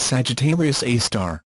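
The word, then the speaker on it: Sagittarius A*: our own Galaxy which is known as Sagittarius pronounced Sagittarius AAR the other is at the center of a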